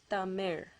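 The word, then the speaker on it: தமிழ்: It's actually pronounced as Tamil. Okay, it ends with that Ra sound.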